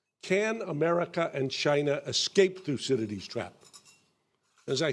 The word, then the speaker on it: Thucydides: Can America and China escape Thucydides' trap?